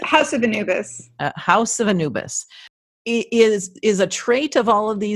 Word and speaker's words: Anubis: and Mandy, the House of, how do you pronounce that? House of Anubis. House of Anubis.